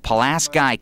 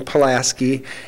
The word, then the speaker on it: Pulaski: great great uncle and he wants the good people of palasky County to stop mispronouncing his family name it has to start with them teaching their children how to say it and they will grow up saying palasi and then it's going